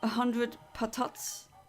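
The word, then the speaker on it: Cent Patates: It was at least it's called 100 Patates. So at least the title of the restaurant is meant to be pronounced in the French way, so 100 patates, and it's all about potatoes.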